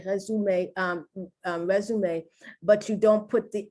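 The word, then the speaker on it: résumé: I'm used to pronouncing this resume, but it's not. That's the French pronunciation. It's resume. Once again, the E is accented and the pronunciation is A.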